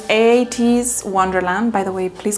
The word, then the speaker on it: ATEEZ: this a song O how do you even pronounce a8s a 8s this is 8s Wonderland by the way